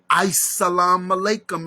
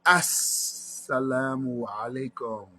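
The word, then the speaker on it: as-salamu alaykum: Elijah Muhammad pronounced many Arabic words wrong. Salam alaikum is not how you give the greeting. It's not ice. It's nothing cold in here. It's assalamu alaikum.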